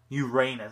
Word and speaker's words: Uranus: it's like an x-ray like rain x-ray yeah Uranus that's what it's supposed to be pronounce so so this is the Uranus saber